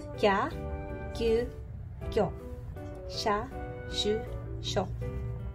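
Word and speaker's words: キャ: Kalau misalnya kalian bikinnya kayak ki ya, kalau kalian bikin besarnya sama, ini bacanya bukan kya melainkan kia. Oke, jadi tuh salah.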